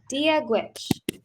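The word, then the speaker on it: Dia dhuit: So you say dia gwich. Deal with, Yeah, dia gwich. deal with, Great. And it's spelled like this.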